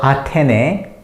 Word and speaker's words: 아테네: So usually A is pronounced as A, so we use A, and TH and T all sound the same in Korean, so it's Te.